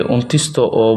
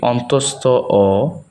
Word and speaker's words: অন্তস্থ অ: আমরা অনেকেই এটাকে অন্ত্যস্ত অ বলি, মূলত হচ্ছে এটি অন্তস্থ অ, খণ্ড ত।